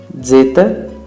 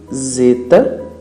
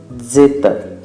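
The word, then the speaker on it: ζῆτα: Zeta tem esse som de D e Z juntos. O som, portanto, não é como se você falasse zeta, ok? Não pronunciem assim, na verdade pronuncie da forma correta, zeta, zeta.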